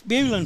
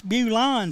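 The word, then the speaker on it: Bulan: Well, it's Bulin if we pronounce it. It's Bulon if anybody else does.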